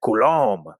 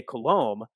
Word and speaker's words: Coulomb: Now, Coulomb's law is named after a French physicist, Charles Augustin de Coulomb, which I'm sure in its original French is pronounced something like Coulomb. But anyway, Charles Augustin de Coulomb was a French physicist